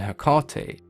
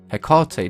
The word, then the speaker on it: Hecate: we take a look at the way it's pronounced in greek it's ergati which could easily be translated to both hecate and herkate so i guess it comes down to personal